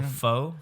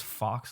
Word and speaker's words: faux: When I used to read it, I used to thought it was fox leather, but Fox you leather? you don't pronounce the X.